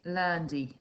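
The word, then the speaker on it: lundi: them again until you feel confident with your pronunciation okay so one day is lundy lendy tuesday is mardi marti wednesday is hoodie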